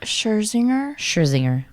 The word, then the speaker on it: Scherzinger: I don't know how to pronounce her last name. Scherzinger.